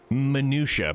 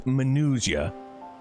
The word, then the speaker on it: Manusia: In like fashion, to the I just keep wanting to pronounce it minutia, but it's not. It's Manusia.